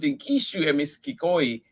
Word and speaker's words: Ingishu Emiskigoi: These animals, called Ingishu Emiskigoi, pronounced Ingishu Emiskikoi, are particularly significant because they are the start of his herd.